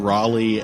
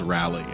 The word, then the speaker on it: Raleigh: I got I got criticized by the way for mispronouncing Raleigh as rally I don't know that